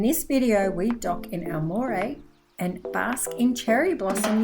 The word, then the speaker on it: Aomori: This day shows our day in Aomori. Yeah, that's a good pronunciation of it.